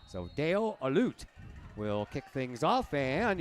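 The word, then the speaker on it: Halut: it's Deo and h-a-l-u-t you do not pronounce the h so it's a loot so Dale alute will kick things off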